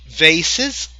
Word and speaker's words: vases: And vases, this is the American pronunciation. Vases, British people say vases. However, if you say vases or vases, both pronunciations are correct.